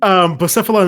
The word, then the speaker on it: Blacephalon: Blacephalon is an Ultra Beast that came out in the Ultra Sun and Ultra Moon. How do you spell that? It's like Blast. BLA. Oh, okay.